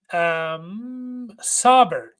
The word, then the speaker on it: Saubert: And then the last one here, and I have to double check how to say his name, is Eric Saubert is the pronunciation guide.